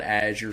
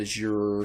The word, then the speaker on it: Azure: might pronounce that word different people have different ways of saying Azure some people call it Azure some people call it Azure some people call it